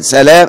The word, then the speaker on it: سلام: سلام هقوله يا أمة الله. سلام الجبائي هو جد محمد ابن عبد الوهاب ابن سلام الجبائي المعتزلي. ينطق مخفف الايه؟ اللام.